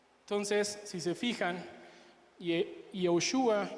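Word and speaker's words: יהושע: La única diferencia es que Jesús no contiene la letra de Hei, pero Josué sí, y la pronunciación, aunque no me sale muy bien, es Yehoshua y Yeshua.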